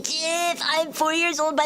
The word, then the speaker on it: GIF: E, you say GIF. I'm four years old, by the way. It's GIF. The creator who made it said it's pronounced GIF.